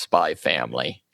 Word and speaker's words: Spy x Family: But yeah, I know like spy x family is generally just pronounced spy family.